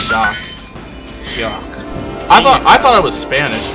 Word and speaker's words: Jacques: But back as a kid, I thought it was pronounced Jacques, but you know I didn't know it was French, so it's pronounced Jacques.